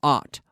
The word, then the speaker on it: aunt: caught okay and the pronunciation is aunt aunt aunt aunt it's the same as ot like in the word not I'm Canadian I am